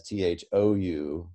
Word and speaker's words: thou: by the french as t-h-o-u which they pronounced as thu but then english speakers started pronouncing it as thou and so that would